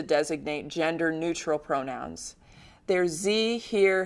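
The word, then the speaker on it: hir: There's ze, here, heres, where the ze is usually pronounced with the long e, and here, h-i-r, is usually pronounced like the English word here.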